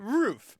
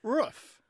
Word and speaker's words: roof: United States all right roof however maybe 10% to 20% say rof yeah kind it's kind of like the same vowel in foot it's a root but